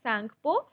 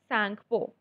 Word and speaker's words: Tsangpo: So it is pronounced as Tsangpo and T is silent. So it is Tsangpo.